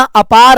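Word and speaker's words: APAAR: है कि भाई अपना अपार आईडी स्पेलिंग देखो ए P double A आर इसको अपार पढ़ते हैं शॉर्ट में तो अपना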